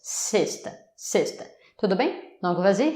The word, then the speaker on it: sexta: Sexta. Sexta. Les X ici ont un son de S. Sexta.